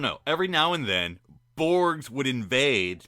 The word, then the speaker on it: Borg: Every now and then, Borgs would invade. Borgs. That's not how you say it. The Borg would invade Starfleet land.